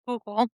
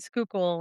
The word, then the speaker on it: Schuylkill: Well, even to most people, they don't know how to pronounce Schuylkill. Yeah, and we have a lot of those freaky names, like like you said, like Susquehanna and Schuylkill, and you have.